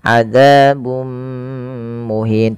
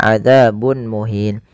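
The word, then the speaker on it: عَذَابٌ مُهِينٌ: bacaan Idgham bighhunnah yaitu cara membacanya memasukkan tanwinnya kepada mim dan ditahan adzabum muhin tidak dibaca adzabun muhin kemudian melafal muhin ada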